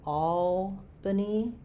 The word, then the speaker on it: Albany: So, Albany. Um, this is like the word all. Albany. Um, we do have the name Al that has the a black cat vowel.